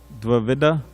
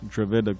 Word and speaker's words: Dvivida: Dvivida? Yeah, Dvivida Gorilla. Not Dravida Gorilla, but Dvivida.